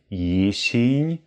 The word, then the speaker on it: jesień: Also mit schönen, klaren S, keine E's. Es ist nicht Jesień, sondern Jesień.